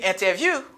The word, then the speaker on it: interview: C'est même gens qui ont NT pour me dire interview.